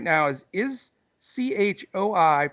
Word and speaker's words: Choi: us figure this one out I I say CH o I is pronounced Choi and my man Andrew and I